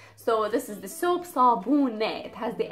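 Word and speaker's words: صابونة: The last one is sabune, sabune. So sabune means a soap, a piece of soap. So this is the soap, sabune.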